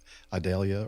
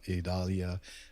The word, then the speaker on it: Idalia: 30th I believe uh Adalia or idalia depending on how you want to pronounce it um kind of went